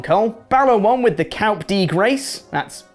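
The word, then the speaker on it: coup de grâce: a blue thunderbomb cole balor one with the calp d grace that's how you pronounce it right which is a nice win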